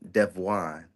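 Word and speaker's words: De'Vaughn: it's the way I pronounce it, which is the correct way that it's supposed to be pronounced when you're referring to me individually as a person. It's Prince Armani Devon. Devon, Yeah, yeah. Prince Armani Devon, Devon. So Devon, it's like Devon, Devon. like that. But it's spelled like Raheem Devon. So the DE, the apostrophe, capital VAUGHN, Devon.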